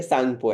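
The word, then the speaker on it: Tsangpo: है उसको सांगपो बोलते य टी साइलेंट है याद रखना टी साइलेंट है टी ठीक है सांगपो है टी सांगपो नहीं है सांगपो है यहां पर इसका नाम ये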